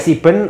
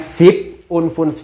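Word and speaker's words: sieben: Nah, untuk yang kayak gini bacanya tetap ya siben atau seks itu tetap. Jadi 57 siben cih. Jadi bukan sip cih tapi siben.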